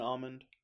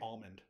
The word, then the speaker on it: almond: Now, but I haven't heard anybody call it almond. Maybe I'm just stupid, but I stand by it. Do you try to pronounce the L in almond? I say almond.